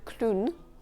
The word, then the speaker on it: clown: Un clown, un clown. Le O et le W forment le son OU dans ce mot spécifiquement.